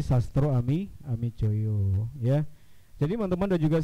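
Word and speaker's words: Sastroamidjojo: Ada kemarin tuh yang baca misalnya Ali Sastro Ami Jojo ya, dibacanya adalah Kabinet Ali Sastro Ami Joyo ya.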